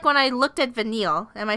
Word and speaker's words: Vanille: kind of feel like when I looked at Vanille am I saying it right yeah I kind